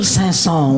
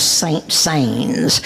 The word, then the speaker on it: Saint-Saëns: sansone's beautiful music enjoy camille sasson was wracked with pains when people addressed him as saint sains he held the human race to blame because it could not pronounce his name so he turned with